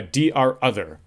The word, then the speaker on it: DROther: Routers which aren’t the DR or BDR for the subnet become a ‘DROther’. I’ve heard a few ways to pronounce that, but I say ‘D R Other’.